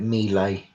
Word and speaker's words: melee: and firearms into and melee or Mahler how it's pronounced I usually go for melee but Americans call it me lay okay so is that